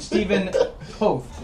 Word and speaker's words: Steven Toth: Steven Toth. Hey, you got it. Yes. I pronounced it correctly?